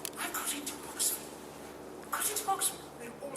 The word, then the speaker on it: Oxford: to our house and said I got into Oxford got into Oxford we're all so excited I said you've got into Oxford and said no I've got into Oxford I